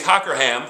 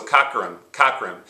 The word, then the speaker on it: Cockerham: Notice I put the soft O at the beginning, cock, and then cur.